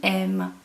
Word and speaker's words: aimes: And then for you, tu, you're going to have tu aimes. So you have an ES, but the pronunciation doesn't change. Then we have he, she, and one. Il, elle, on, aime.